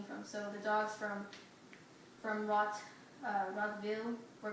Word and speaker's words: Rottweil: And then the towns themselves were called villes, so Rottwil, and that's how you pronounce it, Rottwil.